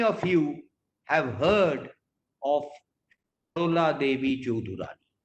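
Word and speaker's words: Sarala Devi Chaudhurani: How many of you have heard of Sharola Devi Chaudhurani? I'm pronouncing it in the Bengali way.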